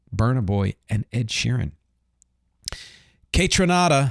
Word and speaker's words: Kaytranada: Kaytranada, I think it's pronounced that way, continues blending house, funk, R&B, and hip-hop.